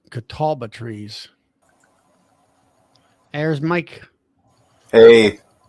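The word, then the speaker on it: catalpa: leaf, but they're called catalba trees. There's Mike. Hey, Catawba. I've heard of those. Catalba, as I guess you Yeah, call it. I can't. 8 ways from Sunday to pronounce it.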